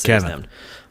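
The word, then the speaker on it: Kevie: and didn't even actually tell him his name's kevin well why is it cave no i think it's kevi and i'm saying it wrong not kevin i don't know everybody says when they talk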